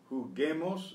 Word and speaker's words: juguemos: Juguemos un poco, to preserve the hard G. We use that silent U again.